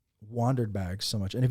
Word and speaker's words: WANDRD: One of the reasons that Mike and I like Wandered bags so much, and if you guys try to type it in, it's WANDRD. RD, yeah. Okay, it's not spelled like I wondered what's going on.